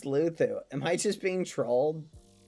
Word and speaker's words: Luzu: So, how would LuLuzu pronounce it? It's Luthu because of the Spanish accent.